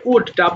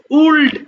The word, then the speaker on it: would: আচ্ছা এবার দেখো, আজকে আমাদের উড, WULD, সবাই একটু খেয়াল করবো, হ্যাঁ এটা আমরা যদিও উল্ড বলবো না, কেমন উড হবে, এল এর উচ্চারণ করা যাবে না, শুধু উড।